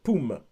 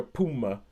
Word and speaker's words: Phume: and H beside it, but in South Africa those are pronounced with a P sound, like Poom.